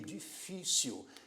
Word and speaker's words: difícil: é uma palavra que tem o acento tônico sendo a sílaba do meio, difícil.